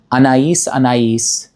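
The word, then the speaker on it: Anaïs Anaïs: This is how it's actually pronounced. Anisay by Kasharel.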